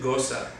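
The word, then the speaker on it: Gose: Meighan tradition okay so he sends down that long so it's pronounced Gosa a timeless tradition of department part goes up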